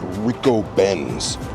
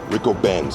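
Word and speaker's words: Ricobene's: Apparently, the name of the restaurant is pronounced Rico Benz. Rico Benz.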